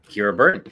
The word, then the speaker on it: Kira Burton: basis but anyway um my guest today is Kira Burton you know before I announced you I I should have asked how you pronounced your name did I get it right